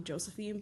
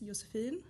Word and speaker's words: Josefine: So in America, people call me Josefine, but the pronunciation in Swedish is Josefine.